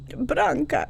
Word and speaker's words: Branka: knew it was me she knew she said branca is that you that's how they say my